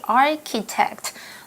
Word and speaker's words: architect: gentle soothing when Josh architect notice the pronunciation of Ch is it sound like a K sound architect okay not just eat